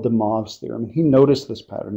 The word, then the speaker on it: de Moivre: Okay, and this is how you pronounce it, de Moivre's.